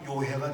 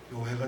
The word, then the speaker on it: 요해: 이제야 요해가 됩니다. 그 이해가 됩니다가 요해라고 발음해야 합니다. 요해가 됩니다.